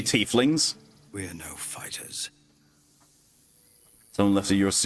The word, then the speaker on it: tiefling: topped him so hard I'll say tiefling because that's if you know anything about German pronunciation it's supposed to be tiefling but I've heard it said in this game already typhling spiritual there's no way